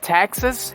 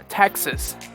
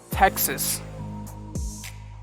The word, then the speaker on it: Texas: hampshire new hampshire this one it's not texas it's texas texas and the last one is utah when i